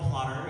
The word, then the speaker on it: Plottr: I also shared, hey, I use this program called Plotter. It's spelled Plottr.